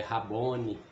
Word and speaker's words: Raboni: voz e lhe diz mestre em hebraico quer dizer pronúncia é raboni ele disse não me